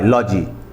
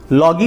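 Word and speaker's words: logy: एल ओ जीी वाई लॉजी लॉगी नहीं पढ़ेंगे इसको हम इसको हम पढ़ेंगे लॉजी लॉजी का मतलब होता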